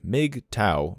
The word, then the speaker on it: MGTOW: back to the article mgtow pronounced m Mig TOA by adherence I'm going